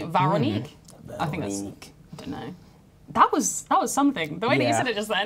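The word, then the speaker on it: Véronique: They've got an accent on the E, like me, Veronique.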